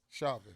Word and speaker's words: Chauvin: case wait how you say his name shaman chauvin cracker a hockey yeah all right his case